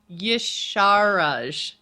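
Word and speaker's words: Y'Shaarj: Yasharaj. So Yasharaj? it's got Shah in the middle. Yasharaj.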